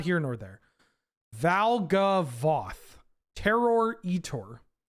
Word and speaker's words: Valgavoth: It's Vaglavoth. Definitely not Valvagoth. Wait, are you sure? Did I get Berenstain Bears? It's Valgavoth.